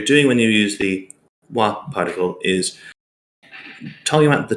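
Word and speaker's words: は: Now, the most common particle that I've seen talked about here is wa. Now, it uses the character for ha, but when used as a subject marker, it's pronounced as ha. Sorry, as wa.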